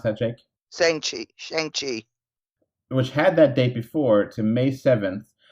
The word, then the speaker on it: Shang-Chi: So then that pushed Shang-Chi, or how do you pronounce that, Jake? Shang-Chi.